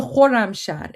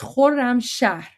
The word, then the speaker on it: Khorramshahr: So even though Jabe didn't spell it correctly, that's hard. That's hard, but you got it. It's the Khorramshahr. It's the Khorramshahr missile. So there you go. It's Khorramshahr.